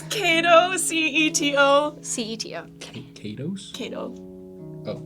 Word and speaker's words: Ceto: You pronounce it first. It's Cato, Ceto.